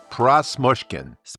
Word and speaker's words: Prosmushkin: Prasmushkin.